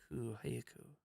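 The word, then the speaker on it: はやく: Hayaku. Leaping activity making rapid progress. What? I'm not. I don't know where this is pulling from. Leap forward. Hayaka. No, it's definitely Hayaku. Quickly. Hayaku. It's Hayaku.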